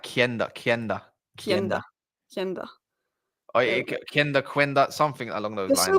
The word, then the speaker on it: Quenda: Apparently, it's pronounced Quenda. So I pronounced it Quenda, and then someone was like, "No, it's Kenda."